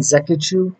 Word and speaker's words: Nzechukwu: So today we're talking about Kennedy and Nzechukwu, that's how you say it, versus Karl Roberson.